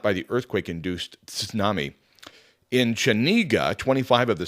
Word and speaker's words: tsunami: in Japanese it's pronounced tsunami so you do pronounce the T so if you hear